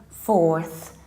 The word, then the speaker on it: fourth: add this famous sir so you say four but for so with your tongue in between your teeth 4th 5th 6th 7th